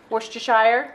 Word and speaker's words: Worcestershire: And Worcestershire sauce. That's a good one. It also gives it a little bit of a kick. How's that pronounced exactly? Worcestershire. Is it? Worcestershire.